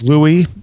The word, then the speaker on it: Louis: And for some reason, when Lewis wrote, or it's actually Louis Proud, it's written like I would pronounce Lewis, but he said it's Louis.